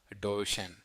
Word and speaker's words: Duchenne: But the ultimate hack is the Duchenne smile. That's spelled Duchenne, pronounced Duchenne.